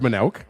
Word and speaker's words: Manouk: Along with Dave Manouk, I almost mispronounced your last name. Apparently, I'm unfamiliar with your last name, but I'm going to say Dave Manouk. It's pronounced Manouk. Yeah, it can be Manouk.